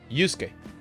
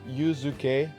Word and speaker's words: Yusuke: Yusuke. We have a Ryuji and a Yusuke. Yusuke. Huh. Yusuke. It's weird. It seems like Yuzuke, like 3 syllables, but I think it's only 2.